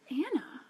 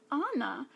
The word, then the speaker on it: Anna: me how many times I have heard Elsa and Anna characters say Hannah like you that's your character like it her name is Anna from arendelle not Anna from our and Dale